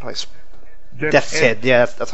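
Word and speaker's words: Deathshead: try to kill General Death, how do I death head?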